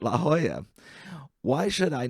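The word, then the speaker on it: La Jolla: Some Angelino socialites find each other a dollar if they say la hala and they give each other a picassa or a goya for pronouncing it la hoya.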